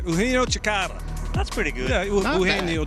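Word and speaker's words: Eugenio Chacarra: Eugenio Chikara.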